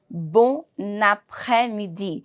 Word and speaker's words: bon après-midi: For example, here I will be pronouncing it as bon après-midi. I need to merge the two words together.